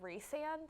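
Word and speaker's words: Rhysand: to pronounce them and it's should be reand that's how the author pronounces it but I don't know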